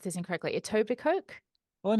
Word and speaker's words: Etobicoke: And one of the earliest ones, Showgirl, was filmed in, I'm going to pronounce this incorrectly, Etobicoke. Oh, in Etobicoke, yeah. Yeah. The K is silent.